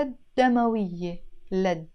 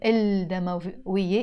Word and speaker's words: الدموية: And all the words that start with the dal, as I said, we don't pronounce the L before them, الدموية, even if it's written.